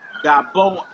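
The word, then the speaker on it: גָּבֹהַּ: And the next one says Gaboa.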